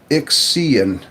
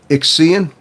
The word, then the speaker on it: Ixian: So it's pronounced Ixian. Okay. Ixian. Ixian Mace. Okay. Glad you. All right. I wasn't sure if it was like Z. You know, sometimes the X is pronounced like a Z, like xylophone.